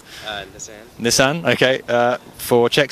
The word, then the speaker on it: Nissan: Is that pronounced right? Nissan.